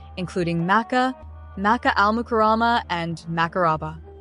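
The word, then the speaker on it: Makkah: various names including meca Maca al- mukama and maaba Maca is the official transliteration used by the Saudi government and is closer to the Arabic pronunciation the city is also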